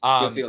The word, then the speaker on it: Jophiel: And even then, like, you still have the end where, God, I always pronounce, is it Jophiel or Jophiel? Yeah, Jophiel, the angel.